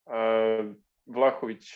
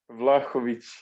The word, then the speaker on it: Vlahovic: Vlahovic. Who? Vlahovic. I'll tell you what chance have we got if you can't pronounce it properly?